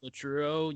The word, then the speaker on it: Latreuo: So yeah, so Latruo, you spell it Latreuo, and you can get it on Spotify.